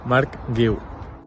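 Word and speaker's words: Marc Guiu: Mark Gil.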